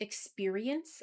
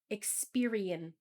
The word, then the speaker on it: experience: he said a great experience I couldn't hear the S at the end it's sounded like experion it's really important to pronounce the SS sound at the end of a word this is true for